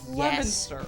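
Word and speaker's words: Leominster: There's another one where it's like it's spelled Leo Minster, but it's Lemonster.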